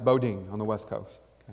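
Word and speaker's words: Boudin: bread factory called boating bakery spelled bodan but pronounced bodine on the west coast bo dean fact bread factory the oldest sourdough bread factory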